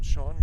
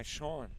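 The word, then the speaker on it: Shoen: As that one is sent foul by Shawn. And I think that would be the correct pronunciation for S-H-O-E-N, because isn't that the same Last name spelling for Neil Sean, the guitarist and vocalist for Journey.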